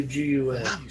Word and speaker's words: GUN: Does he say gun or does he say G-U-N? What are you saying? Everyone says gun. It's like NASA. It's an acronym, but it's pronounceable.